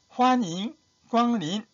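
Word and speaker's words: 欢迎光临: 환인, 광린. 환자와 광을 일성을 발음해야 됩니다. 높은 놈입니다. 일성은 높은 놈이다.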